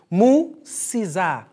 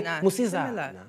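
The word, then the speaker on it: musidzana: It says, if you want to say girl, how you pronounce this is Musizana. And very quick, we say Musizana.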